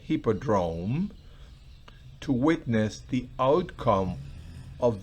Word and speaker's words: Hippodrome: Coloco la pronunciación al lado porque no es una palabra muy común, así que esa es la pronunciación, Hippodrome, to witness the outcome of the audacious challenge which Houdini had accepted.